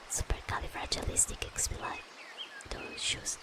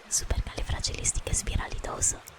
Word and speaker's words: Supercalifragilisticexpialidocious: Supercalifragilisticexpialidocious. Okay, it's a little hard because I get confused with the Italian one. Supercalifragilisticexpialidoso. That's how you say it in Italian. Supercalifragilisticexpialidocious. Yeah, it's a little different there.